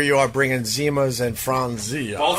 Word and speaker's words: Franzia: Franzia. Fronzia. It's only three syllables, bro.